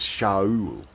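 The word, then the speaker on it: שָׁאוּל: In Hebrew, his name is, in the Bible it's Saul, but in Hebrew, ancient Hebrew, it's Shaul. And when it's written without vowels, it's written and pronounced the same way as you pronounce Sheol.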